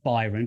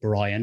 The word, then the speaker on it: Byron: And it's Byron, Byron, not Brian, as we had that conversation about before, wasn't it?